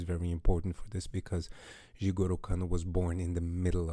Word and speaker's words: Jigoro Kano: And the story starts with Jigoro Kano, and I'm pronouncing that probably horribly, but that's fine. It's I'm pronouncing it the Brazilian way, how I was taught it the whole time. Jigoro Kano.